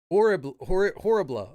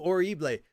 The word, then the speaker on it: horrible: You don't pronounce the H. Okay, so it's horrible.